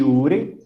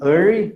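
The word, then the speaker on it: Urey: experimento de Miller e URI tá vão a pronúncia correta seria Miller e Ari né os caras são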